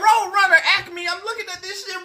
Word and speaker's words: Acme: What the hell is ACME Corporation?